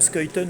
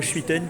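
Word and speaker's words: Schuiten: bien son nom dont on dit bien skyton et non pas schwitten comme comme les la plupart des Français bon après c'est normal on n'est pas flamand on sait pas forcément comment ça se prononce et ben écoute ravi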